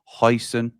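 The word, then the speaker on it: Huijsen: Dean Hudson, the J is silent, so it's pronounced hoisonen. Like hoisonen sauce.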